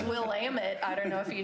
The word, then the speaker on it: Willamette: You talk about pronunciations? It's Willamette.